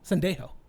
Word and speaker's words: Sendejo: Sendejo. Oh, is that how you pronounce it?